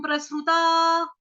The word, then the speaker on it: प्रसृता: उसके बाद है स, स कौन सा? सपेरे वाला, लेकिन स हमारा आधा है, क्यों? क्योंकि उसके नीचे लगा है रू, ऋषि वाला, प्रसरु, प्रसरु, अधश्चोर्ध्वम प्रसृता, प्रसृता। स आधा उच्चारण ही सुनाई देना चाहिए।